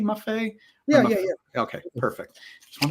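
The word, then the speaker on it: Maffei: and the perfumer uh Luca MAF do I pronounce his last name correctly maff yeah okay perfect just want to double check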